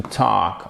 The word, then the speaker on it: talk: C'est pas we could et on ne prononce pas le L. Please. C'est la même chose avec would. C'est la même chose avec le verbe to talk, OK?